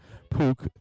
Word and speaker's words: Puk: I wanted to call him Puck so bad, but I talked to the teams before. It is puke. They It's P O K is how they tell you to pronounce it. Puke. Uh, and so, but it's P U K is the actual spelling.